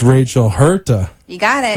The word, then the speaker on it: Huerta: said I said it wrong so it's Rachel hurt you got it right okay and you are